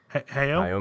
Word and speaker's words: Hayao: how do you pronounce the first name? That's the Hayao Miyazaki.